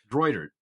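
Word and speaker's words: Greutert: a terrible job at that's how you pronounce it grer yeah I I was was doing it so much fancier than that I was doing a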